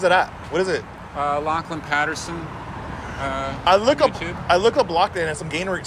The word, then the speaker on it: Lachlan: to be like, I'm sorry, how do you pronounce your name? Lachlan.